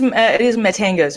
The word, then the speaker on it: Mattenga's: It is Mattenga's. My husband's name is Matthew. So it's Matt, and part of my name is Enga. Yeah. So that's why it's called Mattenga's. Mattenga's Pizzeria.